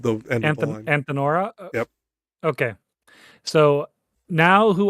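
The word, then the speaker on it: Antenora: Okay, just for the pronunciation of the end of the line. Antinora.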